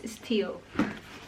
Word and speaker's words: Stihl: Is how do you pronounce this? Stihl.